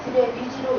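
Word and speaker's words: drainage: 림프 마사지라고 절대 용어 쓰지 마시고 림프 드레나지라고 해서 드레나지라고 읽으시면 드레니지로 읽으시는 게 좋고요.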